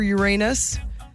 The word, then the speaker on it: Uranus: Where did I hear about the new moon for Uranus? The Courtney show. Wait, how did you pronounce it?